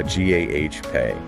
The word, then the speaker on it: agape: Same spelling but pronounced uh g a h pay.